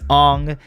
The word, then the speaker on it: Aang: For instance, Aang, as much as you might not like it because it's not what you grew up with and it's not how you recognize the name, is actually the correct way to say that name, as well as